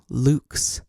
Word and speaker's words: LVX: bright and say x then say luks this is actually how lvx is pronounced then say the light